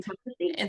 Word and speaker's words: intestacy: Intestasy.